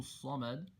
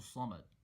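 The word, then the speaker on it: الصمد: So say it slowly and make sure that you're pronouncing the Sad clearly and holding and stretching and emphasizing that shidda. So that shidda should be respected, should be properly pronounced.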